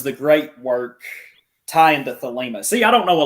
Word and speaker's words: Thelema: How does the great work tie into Thelema? See, I don't know a lot about Thelema. I'm probably not even pronouncing it right.